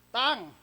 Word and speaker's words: tongue: So pag-aaralan natin ay tang t o n u e. Pag tinanggal mo yung n anong pronunciation yan toge.